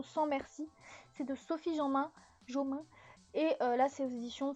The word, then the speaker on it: Jomain: Bah oui, parce que tu croyais qu'elle était anglaise, du coup tu as voulu prononcer à l'anglaise. Donc bah, Sophie Jomain.